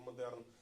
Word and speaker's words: модерн: воно потрапило до Росії під назвою модеern з наголосом як у французькій мові хоча французи його ніколи так не називали у французів це тільки